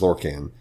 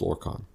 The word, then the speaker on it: Lorkhan: the correct pronunciation because somebody says lorcan he says no it's lord khan so fun fun tidbit